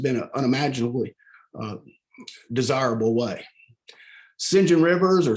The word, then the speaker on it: St John: how to pronounce these words that it was pronounced sinjin shinjin rivers and shinjin rivers wants to define her